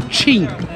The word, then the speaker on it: Qin: O nome China vem da dinastia Qin, que por aqui se pronuncia como Qin.